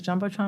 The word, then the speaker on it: Jumbotron: Is it the Jumbotron?